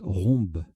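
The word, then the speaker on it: rhumb: Je viens de voir que ça se prononce en fait rhombe.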